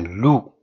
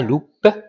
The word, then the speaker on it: loup: quel animal c'est un Lou Lou alors faites attention la lettre P ne se prononce pas d'accord on dit pas loupe mais lou alors on prononce pas